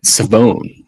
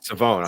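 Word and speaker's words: Shavon: It's Savone. Yeah, that's crazy. He said uh even like like the people mispronounced it like his entire time at Eastern East Carolina until like this last season.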